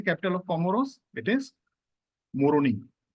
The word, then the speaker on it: Moroni: It is Moroni. So it rhymes with the name of the country itself, Comoroni.